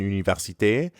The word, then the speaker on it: université: Notice how you can hear the same R sound in université as in merci. Mère. Université. Université. At the beginning of université, you can also hear the U sound from une.